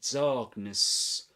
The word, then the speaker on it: darkness: Darkness, the first syllable is pronounced with the same vowel sound as star.